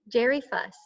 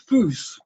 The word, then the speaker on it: Fuss: And Fuss. Excuse me, it's Foose. Rhymes with goose.